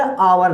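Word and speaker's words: hour: जैसे शी इज एन आवर late, अब शुरुआत यहाँ एच से है, एच एक कॉन्सोनेंट है मगर ये साइलेंट है, ये बोला ही नहीं जा रहा। आव आ की साउंड प्रोड्यूस हो रही है, इसलिए यहाँ पे हमने एल लगाया।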